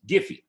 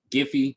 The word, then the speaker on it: Giphy: fair let me see it's a giffy that's it jiffy giphy jiffy however you want to pronounce it you could come here